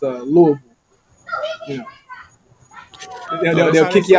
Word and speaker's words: Louisville: it Louisville I just found out I've been pronouncing it wrong for for years I've been calling it Louisville it's uh Louisville you know they'll kick you out the city